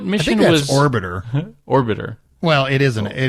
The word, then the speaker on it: Orbiter: Yes, and notice it's Biff's mispronunciation. Yeah. You were doing it too. At Orbator. Thanks, Amy. At Orbator. So what mission I think was... that's Orbiter.